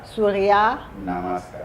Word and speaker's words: Surya Namaskar: Alors, donc, prononcez encore le nom. Surya Surya Namaskar.